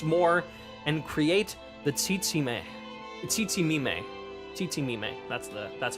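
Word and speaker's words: Tzitzimime: Tsitsimime. That's how you pronounce it.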